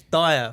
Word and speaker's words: Dyer: And I was like, his name's not fucking Deer, it's Dyer, for fuck's sake.